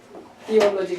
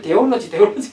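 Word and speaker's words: theology: 뭐야 오늘날 신학 그러면 띠올러지 그러잖아요. 띠오. 그 띠오가 데우스 여기서 나온 거예요. 그 발음 못하는 사람 우리가 신학교 다닐 때 발음 못하는 사람 자꾸 띠올러지를 데올러지 그런 사람 있어.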